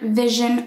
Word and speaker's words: vision: with saying this word, vision or pleasure or excursion, it's absolutely normal. And it's because there's this sound in the middle, which is spelled with an S, but it's pronounced with a zh sound.